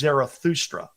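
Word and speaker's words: Zarathustra: Named after their prophet whose name was Zoroaster or if you were to pronounce it in Greek, it was Zerahustra.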